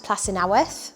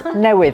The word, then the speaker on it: Plas Newydd: I am Katie Kennedy, and today I am in the Octagon Room at Plas Newydd. Have I pronounced that right? No. No (Professor Viv Gardner) Plas Newydd.